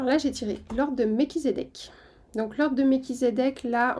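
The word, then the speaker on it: Melchisédech: j'ai tiré l'ordre de mekizedek donc l'ordre de mekizedek là on a un guide à haute fréquence vraiment un être de lumière très haut ici hein donc prononcer méchisédeek ça signifie roi de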